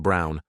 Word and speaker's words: Braun: of the historical figure Eva Braun pronounced Brown wife of probably one